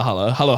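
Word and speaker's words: halo-halo: that oh the Hal all right the Hal Halo Halo Halo is how you say it so we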